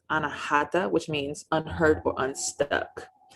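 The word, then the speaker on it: अनाहत: In Sanskrit, it is pronounced anahata, which means unheard or unstuck.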